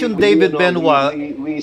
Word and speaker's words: Benoit: And we asked him point blank, how do you pronounce it? It's Benoit.